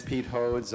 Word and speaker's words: Pete Hodes: congratulations, you did pronounce it correctly in the first try. That's better than most. My name is Pete Hodes.